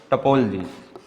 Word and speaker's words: topology: First we discuss about topology. Topology. The pronunciation of this word is topology. T-P-O-L-G-Y. This O is silent and this O is silent. Topology.